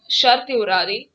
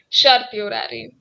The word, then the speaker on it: certiorari: Here, the High Court exercised its power to issue the writ of certiorari and quashed the orders passed by the district court in the present case. It is pronounced as certiorari. Certiorari. Corpus.